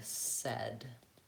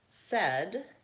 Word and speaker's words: said: is in the word said hmm don't see is it black cat ah nope how about Red Tent red said actually yes said as that yeah Wow red and said rhyme with each other so if you have